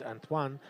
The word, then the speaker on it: Antoine: going to show Antoine which is actually my name in French is Anan as well yeah that's true my mother is French Canadian so and then my father's Italian so in Italian it's Antonio yeah and in French it's antoan so my grandfather called